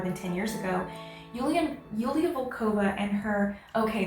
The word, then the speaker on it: Yulia: 10 years ago julian yulia volkova and her okay it's julia i've been saying julia because it's been spelled with a j don't come for me